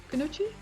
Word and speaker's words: Kunoichi: times i saw you're a part of the kunuchi team if i pronounce it right kunuchi yeah okay can you explain what you stand